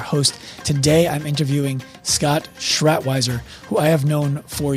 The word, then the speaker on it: Schratwieser: What do they say? with a T. They don't say Schrat. I mean, everyone calls me Schrat, Scott Schrat.